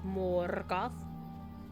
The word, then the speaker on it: Morgoth: You gotta roll your R's. Morgoth.